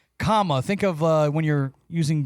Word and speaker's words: Kamala: help, and this is for the people who call her Kamala and Kamla or whatever they say, but it's comma. Think of when you're using grammar and you put a comma in a sentence.